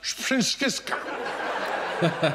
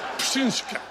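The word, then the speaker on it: Pšenička: I do not want to say, here's someone who fooled us, Psenicka. I don't want to put a P before an S, ever. Psenicka. Psenicka.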